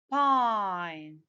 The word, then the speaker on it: pine: I add the silent E to get the long sound for this letter. What is the long sound for this letter? I. What does the word become? Pine.